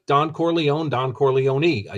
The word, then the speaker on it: Corleone: did pronounce it right in Italian for all the pisans out there uh out in h twolegs land you pronounce every letter right and I had